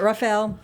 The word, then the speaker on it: Raphael: I always want to put like an extra syllable in there, but Raphael, Henry, Colin Cange, Daniel Lugo.